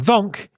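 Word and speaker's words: Vonq: And Vonk is spelled V-O-N-Q.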